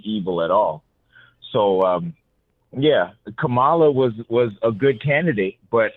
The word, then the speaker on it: Kamala: I said Kamala, right?